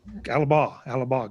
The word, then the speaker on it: Alabach: Am I pronouncing it right? Alabach? Yep, Alaba. Yep. Alabah. Good.